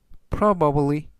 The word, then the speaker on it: probably: 뜻이 되겠습니다 이번 단어는 probably probably probably라고 발음하시면 되겠고요 이때 강세는 앞부분에 있는 알파벳 5의 강세가 있습니다 품사는 부사 뜻은 아마도라